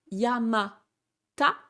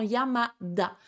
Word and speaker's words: Yamada: Yamata ne se dira pas, ça se transforme en Yamada.